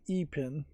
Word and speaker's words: Ipin: So they pronounce it upin and ein.